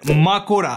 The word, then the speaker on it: Mahoraga: माकोरा, I mean माहोरागा। Japanese pronunciation इसका माकोरा होता है, लेकिन बात यहां अपने माहोरागा की ही हो रही है।